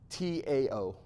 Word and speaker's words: Tao: It can't be completely translated into English, but T-A-O. But it's, as far as I understand, it's pronounced more like a D, like Tao, but it is T-A-O.